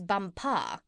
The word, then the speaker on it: Bumpar: She became his chief wife, and is now known out there as the Crown Princess Bumpar. You accent the last syllable."